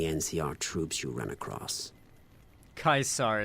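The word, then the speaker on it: Caesar: troops you run across kaisar is how you're supposed to pronounce it okay um what lessons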